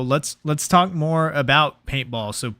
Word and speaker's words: p8ball: and easy to find gotcha so it's just paintball it's not p8 ball paintball yeah okay so you own and operate